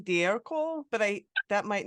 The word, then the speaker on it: D'Ercole: And the proper Italian pronunciation is D'Ercole.